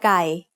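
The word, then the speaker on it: กา: Start with gò gai and add sara a. Together, that makes ga, which means crow. Ga also has a middle-class consonant with a long vowel, so that's mid-tone.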